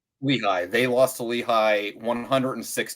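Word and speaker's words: Lehigh: So they lost to uh I believe it's pronounced Lehi. Lehi. Oh, Lehi. Yeah. Lehi.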